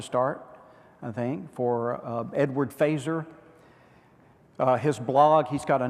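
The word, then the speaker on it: Feser: to search his as FES er looks like fessor but it's pronounced fazer like in Star Trek yeah you wrote the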